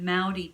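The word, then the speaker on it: Māori: The Maori people, which is how you say it properly, live in the North Island.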